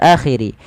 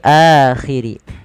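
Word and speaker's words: الْآخِرِ: Pada lafal akhiri adanya huruf hamzah yang bertemu dengan alif yang seperti ini. Ini a dan ini alif menandakan panjangnya, 2 harokat. Bukan wal yaumil akhiri tapi akhiri.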